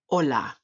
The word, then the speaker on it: hola: Hola, hola.